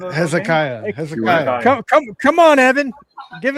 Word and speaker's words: Hezekiah: Oh, he can't pronounce anything. He says Hezeka. Well, he has the I doesn't count in the last Hezekiah.